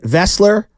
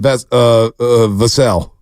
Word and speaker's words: Vassell: I said Vessler like seven times this morning. Oh, yeah. What's his name? Vassell. Devin Vassell. Vassell. Like Sam Cassell.